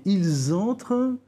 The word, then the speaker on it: ils entrent: Par exemple, je dis « ils entrent », je prononce le S à l'écrit et pas le ENT.